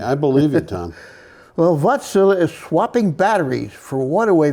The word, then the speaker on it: Wärtsilä: And they pronounce it Wärtsilä. Okay. Wärtsilä. Okay. And they said it about 9 times, so I heard Okay, them. I believe you, Tom. Well, Wärtsilä is swapping batteries for waterway vessels in the Netherlands.